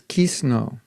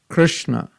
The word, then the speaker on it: Krishna: okay can you say krishna krishna now when i say krishna put your tongue on top of the roof when you do the s hare krishna so that